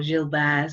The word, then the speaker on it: Gilbert: here is something called Gilbert's Disease or Gill Bears if you want to say it properly where if we look